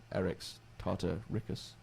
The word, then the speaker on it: Eryx tartaricus: But in 1983, a specimen of the Tartar sand boa, Eryx tartaricus, that's how it's pronounced in Latin, was shown to locals who claimed that this was Mongolian Death Worm.